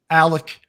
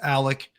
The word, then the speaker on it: Alex: law firm there's uh alec and i know it's spelled alex but it's pronounced alec we get we get